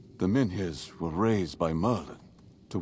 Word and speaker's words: Menhirs: Alright, Camelot wants to take your Menmir away? Whatever, however you pronounce that shit.